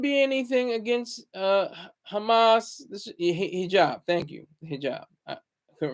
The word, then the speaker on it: hijab: For giving me the hijab, or the ijab. I don't think they pronounce the H, but the hijab.